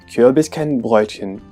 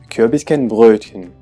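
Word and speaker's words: Kürbiskernbrötchen: So this word should be pronounced as Kürbiskenbrötchen or as Kürbiskenbrötchen. What's difficult in this word? Well, we have two vowels that could seem similar for English speakers. The first vowel in the first syllable, U, and also the vowel Ö. Kürbiskenbrötchen. Kürbiskenbrötchen. And as a consonant we have the combination represented by the letter T and CH.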